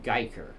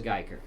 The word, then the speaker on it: Guyker: I keep wondering if I'm pronouncing that name right. Yes, Geiker. Geiker. It sounds like a weird name, but yes, it is Geiker.